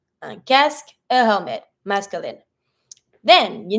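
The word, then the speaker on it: casque: a helmet is a cask careful with the pronunciation on this one every time you have q u e you will never pronounce the U don't say c no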